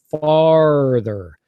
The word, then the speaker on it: farther: father you know but in North America we'll we'll say farther so it's that really strong R farther farther yeah farther